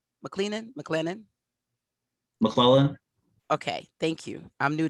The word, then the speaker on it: McClellan: There are about, yeah, right there, about 326 areas of known and suspected contamination at, how do you pronounce that again? McLennan? McClellan.